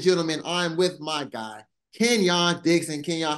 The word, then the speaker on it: Kenyon: good man I'm good I appreciate you pronouncing my name right um nobody ever get it right then so thank you I'm pretty sure they say what Kenyan yeah I get I get Kenyan more than I get the actual pronunciation of my name man so that was